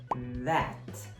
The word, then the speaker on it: that: A próxima é that. Que também tem que tomar cuidado, mas se você falar that, dependendo da frase vai parecer até pai, né? Papai, dad.